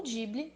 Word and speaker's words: Ghibli: Ghibli, ou Ghibli, na pronúncia japonesa, é uma palavra derivada do árabe.